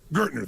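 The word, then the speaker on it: Gerstner: And they brought in, I don't know how to pronounce his name, it was Gestetner, the gentleman who came in, who was like the major turnaround guy. What's his name? Gertner, thank you.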